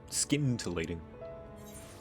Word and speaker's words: scintillating: the name scintillating skin tillating that's how they say it in the cutscenes i guess so verber